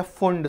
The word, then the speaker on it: Pfund: पास में बचती है फंड सीरीज कौन सी बचती है फंड में पी साइलेंट ठीक है फंड में